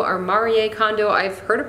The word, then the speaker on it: Marie Kondo: utilizing the canary method which I believe it's Marie Kondo or Mari a condo I've heard of pronounced both ways so I'm just going to